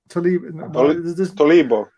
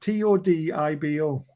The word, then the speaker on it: Todibo: Tolibo. There's no L in it, so how do you get Tolibo out of that? Todibo.